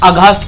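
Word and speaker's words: aghast: Very good, अगास्ट कहेंगे।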